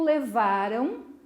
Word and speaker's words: levaram: Vamos pronunciar de modo bem pausado esse verbo. Levaram. O que é que aconteceu? O som da última sílaba saiu aqui, ó, no meu nariz. Lembra do vender? Passado? Vamos ver? Vender. Sai aqui, ó. Vender. A boca ficou aberta. Levaram. Saiu aqui, ó. Som nasal.